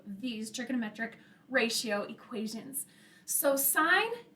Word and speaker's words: sine: So sine is usually abbreviated with sin, but don't pronounce it as sin because it's representing sine of an angle.